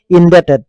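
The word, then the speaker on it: indebted: লাগিব ডেট ঠিক তেনেকে এটো দেখিছে আপোনালোকে ইনডেটেড ইনডেটেড ইনডেটেড ইনডেটেড এটো বিটো সাইলেন্ট হৈ গ'ল এটো বিটো সাইলেন্ট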